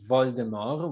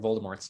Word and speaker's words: Voldemort: The author has claimed that the T is silent and that it is indeed deriving from the French vol de mort, which either means flight